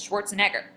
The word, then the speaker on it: Schwarzenegger: Arnold Schwarzen Edgar. There's two stresses. Schwarzenegger.